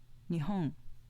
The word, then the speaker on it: 日本: on the first mora nihong meaning japan was an accent on the second mora compare nihong nihong you